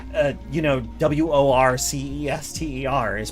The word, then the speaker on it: Worcester: what it sounds like they wanted you to pronounce worcester as warchester that's just wrong i mean definitely it's worcester same as gloucester actually i mean it's basically the same the same suffix pronounced the same way oh god the worst